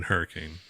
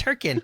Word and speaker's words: Hurricane: going to be in Utah um in in Hurricane hurriken yeah hurri yeah I've never even been there apparently I know you're pronouncing it wrong it's herin come on Noob it's h it's h k